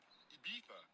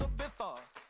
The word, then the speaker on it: Ibiza: I just went to Spain, that's Ibiza. Ibiza. Yeah, it's pronounced Ibiza, actually.